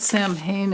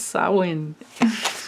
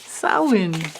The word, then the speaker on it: Samhain: oops i but i realized i i didn't pronounce it's not samhain it's it's samhain samhain so for all my irish and celtic friends